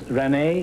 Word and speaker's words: Renee: find out something about miss renee is that the way you pronounce it yes creature Renee is back